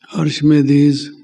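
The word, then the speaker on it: Archimedes: अर्शमेदिस, कई उसको प्रोनाउंस करते हैं अर्शमीदस, जो साइंटिस्ट हुआ है,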